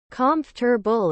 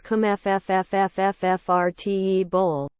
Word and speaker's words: comfortable: Comfortable is something I hear so often. That's me too. Comfortable. Yeah, you're saying it wrong. I say comfortable. It goes like this comfffffrtable.